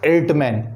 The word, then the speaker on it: Erdtman: अर्टमैन, नाम याद रखिएगा स्पेलिंग के साथ में, E.O.G. ये पूरा नाम है इनका, E.O.G. एर्टमैन, ERDTMAN। इनको फादर ऑफ पैलाइनोलॉजी कहते हैं।